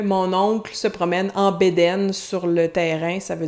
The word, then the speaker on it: bedaine: La bedaine, au Québec, on prononce souvent bedaine. Puis si je dis que mon oncle se promène en bédaine sur le terrain, ça